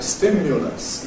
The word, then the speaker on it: stimulus: Equally there’s a weak /ʊ/ in Received Pronunciation. We say things like ‘stimulus’ /ˈstɪmjʊləs/, and that middle vowel is /ʊ/, a bit like ‘good’ /ʊ/, /ˈstɪmjʊləs/. Nonetheless, it has a casual variety, which is a schwa /ˈstɪmjələs/ in less careful speech. And in American English, that would be the usual pronunciation, /ˈstɪmjələs/.